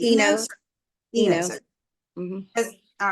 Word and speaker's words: Enos: Is that how you pronounce that correctly? Enos. Enos.